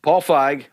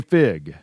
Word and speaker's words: Feig: It is Paul Feig. Paul Feig. Paul Feig. Yes. Feig. Paul Feig. You want to say fig? You want to say feig? You want to say feig? Feig. So Paul Feig.